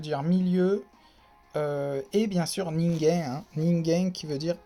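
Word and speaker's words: 人間: Là, par exemple, là, on a vu que normalement la lecture c'est kan, ken, mais là, quand c'est à côté du hito, ça se prononce gen, hein, ningen.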